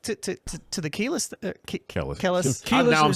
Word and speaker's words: Kelis: crazy um but to to to to the keyless kelly now i'm saying it wrong kalis thank you uh like ebro and ebro always owns the name so it is keyless well police um i actually uh look as